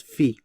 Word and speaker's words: phi: And the golden ratio is denoted by this Greek letter called phi. That's how you pronounce it, phi.